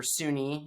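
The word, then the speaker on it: SUNY: a study by uh s-u-n-y a number of years back or sunni if you live in new york you know that that's kind of how we typically pronounce that um they looked at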